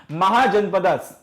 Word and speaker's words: महाजनपद: महाजनपदस या महाजनपद, जैसा भी आप इसे प्रोनाउंस करना चाहो, महाजनपद बोलना चाहो, महाजनपदास बोलना चाहो, जैसा आपकी मर्जी है।